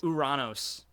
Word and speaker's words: Uranus: Uranos. Uranos. Which I think sounds way cooler. Hoorah! Because Uranos. it's based off of the god of the sky, and it's Uranos.